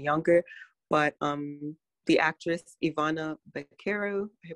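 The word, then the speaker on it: Ivana Baquero: looking for someone younger but um the actress ivana caro pronounced that correctly um she was 11 or 10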